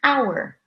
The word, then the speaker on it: hour: silent the first word if the H is silent and we cover it oh you are it's pronounced hour hour and then our